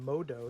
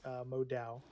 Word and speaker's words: Modo: leash from spoo and modo sorry i kept mispronouncing their name it is modo not modal yeah and you mentioned